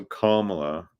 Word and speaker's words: Kamala: And then, you know, Kamala. So I like this one. Did you ever have this new one? We're going to be doing a new meme. It's a comma with la.